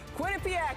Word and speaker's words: Quinnipiac: have some experience and it's pronounced Quinnipiac everybody I'm never gonna get